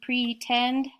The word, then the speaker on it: pretend: And then we do also have another oddball up here, number 14, pretend, has a long E in pre and a short E sound in end.